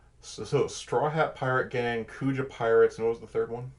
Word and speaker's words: Kuja: Beast Pirates or D I'm probably mispronouncing as Kuja pirates k-u-j-a pirates you did right Kuja Kuja Kuja what is